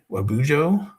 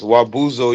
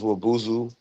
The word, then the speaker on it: Wabuzu: The rabbit is the clan symbol Wabujo. Help me out if I've mispronounced it. I'm sorry. Wabuzu is one of the dialects. Wabuzo, you can say that, but it's Wabuzu.